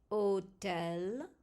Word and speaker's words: hôtel: H is always silent and is considered a vowel. The word happy in English, pronounced by a French speaker, sounds like happy. Hôtel.